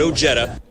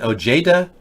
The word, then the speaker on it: Ojeda: It is a soft J. Anyone pronouncing it J as in Ojeda is actually denying their Hispanic past.